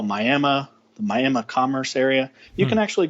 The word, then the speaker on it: Miami: of miam there and it's spelled Miami right but it's actually miam it's Tribal land for